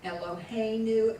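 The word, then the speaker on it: אֱלֹהֵינוּ: knew on you now for both of the first Common plural the accent is on the next to the left a knock knew and uh new it's just like um ello hey new it's the Our God elohaneu when its first Common plural it's always accented on the next to the last or yes you a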